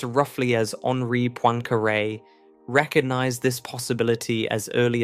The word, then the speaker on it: Henri Poincaré: The French mathematician Henri Poincaré, whose name is pronounced roughly as Henri Poincaré, recognized this possibility as early as the 1890s,